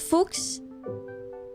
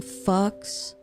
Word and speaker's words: Fuchs: It's pronounced Fuchs? German. So it wasn't a play on words of it being fucks.